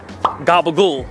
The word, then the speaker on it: gabagool: One thing about us Italian Americans that we do is we don't pronounce our vowels at the end of the word. For instance, gabagool, we say.